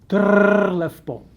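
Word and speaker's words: Trr lefpom: Trlefpo. Yeah, so the double R is a very strong trill and you can have fun with it.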